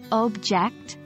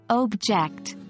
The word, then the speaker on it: object: sentence isn't that fascinating take the words object and object the first one with stress on the first syllable object is a noun but when we shift the stress to the second syllable object it becomes a verb this is stress shift